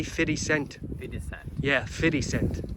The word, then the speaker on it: 50 Cent: Get rich or die trying, isn't that what 50 Cent said?